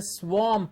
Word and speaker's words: swamp: or swamp it's a swamp it's an o sound there to give us swamp a lot of times